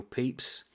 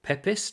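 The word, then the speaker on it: Pepys: also got this one Samuel peeps or pepis depending on how you want to pronounce his name Arthur Bryant and it's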